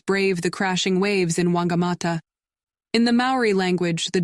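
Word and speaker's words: Whangamatā: watch the Surfers Brave the crashing waves in wangamata in the Maori language the Deutsch is pronounced like an f wangamata and whitianga roll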